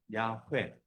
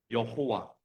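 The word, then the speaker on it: Yahweh: 발음 어떻게 해야 되냐면서 가장 가깝게 복원한 발음이 야훼. 이게 영어에서는 여호와, 제호바, 우리말에서 여호와라고 하죠. 여호와, 원래 야훼가 맞는 말입니다.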